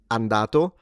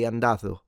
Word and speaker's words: andato: So, like instead of andato, they will say andatho. Andatho. So, they have the th.